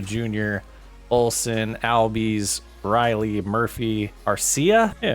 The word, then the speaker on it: Arcia: We got Harris as the leadoff, Madrigal as the second batter, Acuna Jr., Olson, Albies, Riley, Murphy, Arcia? Yeah, Arcia, I said it right.